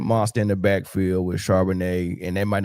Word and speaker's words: Charbonnet: They got a two-headed monster in the backfield with Charbonnet, and that might not even be how you say his name, but I want some wine. No, it's Charbonnet.